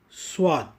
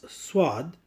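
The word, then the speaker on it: صاد: letter of this family, Swad. Swad. To pronounce Swad, the tongue must get locked to the lower jaw and the tongue tip touches the inner line of the lower frontal teeth.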